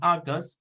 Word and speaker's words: August: la pronunciación de estas, la AU, la debemos beber como es una O glotal, se corta acá, no es O, es O, August, y luego esta suena como AU, August, it's August, no es August, no es August, August.